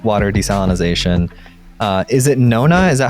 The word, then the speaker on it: NoNa: you're doing with water desalinization uh is it Nona is that how you pronounce it yes yes so it's some it's